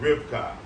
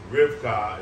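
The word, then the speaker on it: רבקה: Now, Rebekah is how they say it in English, but in the Hebrew, we say it with two phonetic sounds, Rivka. Rivka is how we say Rebekah in Hebrew.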